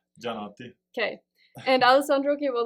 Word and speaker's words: Gianotti: Gianotti.